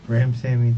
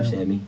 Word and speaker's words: Ramsawmy: Ramsawmy, the W sound. Ramsawmy.